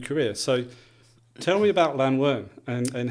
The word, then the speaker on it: Llanwern: I was introduced to golf at Llanwern. I've been a member since the age of 8. I'm glad you pronounce it properly.